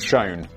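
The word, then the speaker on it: Shoen: Danny now says, pronounced Schoen.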